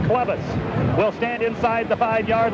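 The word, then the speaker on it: Chlebus: Joe Clevis, C-H-L-E-B-U-S, pronounced Clevis, will stand inside the 5-yard line to punt it away.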